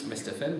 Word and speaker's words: Westhofen: Westhofen, bonne prononciation.